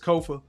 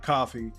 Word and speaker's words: Kofa: Once again, I've been your homo host Kofa Ko FA not coffee, not Kufu, not Kofi, or any variation thereof. Kofar rhymes with sofa.